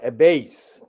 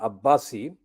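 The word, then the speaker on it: Abase: the corrupt spelling and call a base I will correct it as I pronounce it Amira Abbasi and Khadija Sultana two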